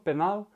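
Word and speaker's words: пенал: a la palabra penal la l es un poco más suave en ruso penal y esto significa el estuche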